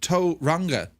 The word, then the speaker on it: Tauranga: Also, Tauranga is pronounced Tauranga. A is in the word car.